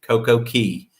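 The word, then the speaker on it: CocoCay: And so we went to Coco K, excuse me, Coco Key. So easy to do. Why do they spell it that way in pron?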